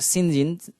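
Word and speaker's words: St John: এরপরে দেখি Saint জন reverse, along with his sisters Mary and Diana, Saint জন pronounced সিনজিন, Saint জনকে সিনজিন বলা হতো, pronounced as, so serves as Jane's benefactor after she runs away from Thornfield, giving her food and shelter.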